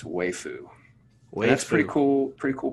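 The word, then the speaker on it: waifu: one was on there i listened to a few videos to make sure everybody was consistent yeah and it's way foo that's pretty cool pretty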